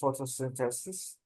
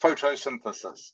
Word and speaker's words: photosynthesis: The diagram below shows the process of photosynthesis. Correct. Paraphrase. It's pronounced photosynthesis, by the way.